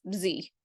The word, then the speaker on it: Z: the only ones that pronounced the letter Z as Z and not Zed yeah it's a weird